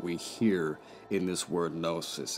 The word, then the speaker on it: gnosis: And of course, the silent G and the word gnosis. So it's a play on words here, that the G is silent in gnosis because it's occult or it's hidden, right?